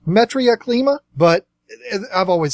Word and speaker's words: Metriaclima: Some of the more popular ones, here's another one that might get mispronounced. I've always called it Metroclima, which would be your zebras, things like that. I believe it's actually pronounced Metriaclima, but I've always said Metroclima.